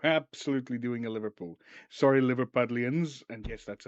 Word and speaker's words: Liverpudlians: Sorry, Liverpudlians, and yes, that's how you say it.